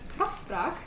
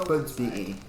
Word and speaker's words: Grafspraak: on their website, They have a grafspraak.be. Grafspraak. Which is a very hard to pronounce if you've been speaking English the whole time.